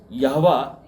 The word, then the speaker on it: यहोवा: यहूदी, इनके भगवान को यहोवा कहा जाता है। कहीं कहीं आप जहवा पढ़ेंगे। य और ज का जो ये अंतर है वो उच्चारण में चलता है।